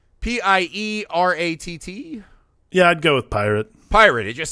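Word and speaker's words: Pieratt: i'm gonna say howard pirate it sounds like he would have some kind of french pronunciation pyre howard piper how's it spelled p-i-e-r-a-t-t yeah i'd go with pirate pirate it just sounds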